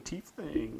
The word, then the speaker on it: Tiefling: Ooh, you're going to do a tiefling. That's going to be fun. Is that how you pronounce it? Tiefling?